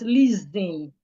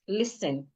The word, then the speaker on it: listen: I hear a lot of people pronounce this word as listening. This change the sound of the s to a zed. Listening that is wrong. The s remains the s.